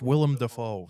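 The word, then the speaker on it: Willem Dafoe: that's real there it is it's called It's pronounced William defo that's let's just say though let's say tomorrow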